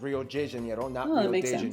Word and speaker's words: Rio: de Janeiro that's right it's pronounced Rio get it right we're not in Mexico this is Portuguese not Spanish this was done in